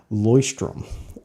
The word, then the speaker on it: Leuchtturm: name and he said it's actually pronounced Loy strim least voiced trum voice